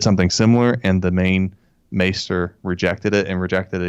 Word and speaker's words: maester: Great scene here because we get another scene of the Maestros, the head guy saying no to the concoction that the other Maestro, is that how you say it? Maester. Okay. Maester.